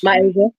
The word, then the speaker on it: Myasia: Myasia. Maya in the continent, Asia. There you go.